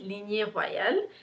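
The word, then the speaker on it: Lignée royale: are linear and huayl so you pronounce it linear royale in french it translates to royal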